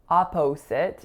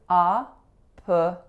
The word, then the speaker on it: opposite: The second syllable is not O or A. So it's not opposite, it's opposite. Opposite.